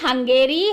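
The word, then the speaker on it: Hungary: बताओगे Italian got इट हंग्री sorry it's नॉट हंग्री इट इज हंगेरी ठीक है आई एम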